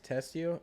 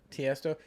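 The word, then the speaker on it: Tiësto: I think it was Testio. Is that how you pronounce it? Tiesto.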